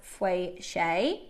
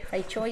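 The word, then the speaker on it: feicui: The Chinese labs continue to grade this material as fei shui. If I pronounce that right? Fei Choi. Fei Choi, sorry.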